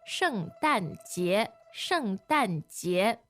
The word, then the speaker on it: 圣诞节: 圣诞节，圣诞节。 So fourth tone, second tone.